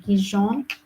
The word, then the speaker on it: Goujon: It's but you pronounce it like Gijon, but you have to write it J like Georgia, U like Uruguay, and then J like Johannesburg, O O, and then N.